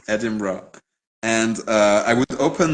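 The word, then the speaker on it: Edinburgh: would settle myself in EDM edim bro worked on the pronunciation edim bro and uh I would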